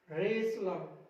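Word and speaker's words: wrestler: अब देखिए LE से पहले, LE से पहले वाला टी भी साइलेंट रहेगा, castle, Russell, hustle, वसल, रेसलर, रेसलर यानी कि पहलवान, रेसलर।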